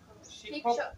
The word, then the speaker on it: শিক্ষক: বলি সমা অর্থাৎ মূর্ধনা স এর উচ্চারণটা প্রাধান্য পাবে সমাজে শিষক শিক্ষক শিক্ষক শিক্ষক শিক্ষক এখানে বুঝতে হবে